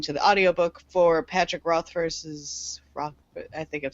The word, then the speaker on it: Rothfuss: I am currently reading, and by reading I mean listening to the audiobook for Patrick Rothfuss's I think I'm saying his last name wrong.